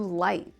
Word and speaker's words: light: a little bit faster, I drop the T's at the end. It's a stopped T sound in American English. Right. Light. Right.